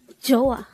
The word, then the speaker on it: 좋아: number 116 chah joah this is pronounced as a two syllable word the first syll is